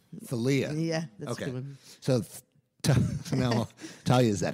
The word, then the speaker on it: Thalia: pronounced many different ways hell yeah or salia the people say salya I don't get that as much as I used to but um yeah Thalia Thalia yeah tell you is that it Thalia said it yep Chris